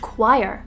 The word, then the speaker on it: quire: The next word, pronounced quire, originally came from the Latin word quaterni, and it was a term used in medieval printing.